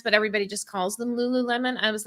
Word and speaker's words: Lululemon: name of that brand uh lulan is that how it said lul Lululemon I'm sorry it's Lululemon my bad I don't know I I thought maybe I've been saying it wrong no no it's Lululemon okay that just shows